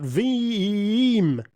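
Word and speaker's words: Veeam: you know um anyway now let's talk about V cuz it's spelled v e a m software that I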